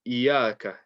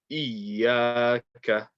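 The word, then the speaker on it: إياك: So first of the mistakes is not reading the shadda properly. So make sure you're saying Iyaka. Don't say Iyaka. Iyaka. Iyaka. Iyaka. Emphasize that joint.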